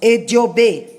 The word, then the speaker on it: Eji Ogbe: Pronunciado, nós falamos Ediobê, Odum Ediobê. Escrito Odum Eji Ogbe.